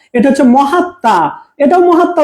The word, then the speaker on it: মহাত্মা: কিন্তু প্রথম অংশে সেম মহাত মহাত কিন্তু এখানে মহাত ম হয়েছে হ্যাঁ আর এখানে মহাত্মা হয়েছে হিন্দিতে এটাকে মাহাত্মা বলে মাহাত্মা আমরা বাংলাতে মহাত্মা বলি এটাও মহাত্মা উচ্চারণ এটাও